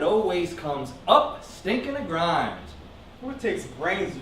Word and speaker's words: Grimes: I mean, they calls me Grimes. It rhymes with crimes.